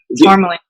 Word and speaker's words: Tourmaline: Is that how you say her name? Tourmaline? Yeah, Tourmaline.